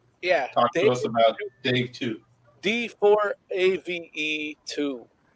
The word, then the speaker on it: D4VE2: But yeah, it's spelled D4VE2, and it's Dave 2.